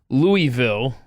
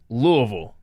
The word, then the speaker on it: Louisville: to point out because whenever i hear people pronounce it louisville or some other variation of the word correct me if i'm wrong but the accurate way to pronounce that city in kentucky is louisville depends on what part of the city you're